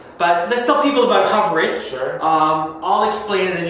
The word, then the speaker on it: HOVR.IT: explanation it is so for those who don't know hover it and it's spelled h oov r doit uh allows people